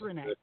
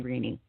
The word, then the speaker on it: René: But it's Renee. See, that's so much better because I even had a couple of people right here going, am I pronouncing her name right? And they're like, I think so. I'm like, oh, God, please tell me yes or no. I have people that have known me for decades that call me Renee. And that's just the way they pronounce it.